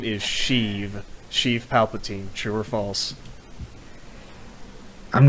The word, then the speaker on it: Sheev: It's fucking Sheev.